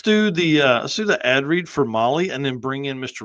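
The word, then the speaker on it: Mahle: For our podcast listeners, Molly is spelled M-HLE.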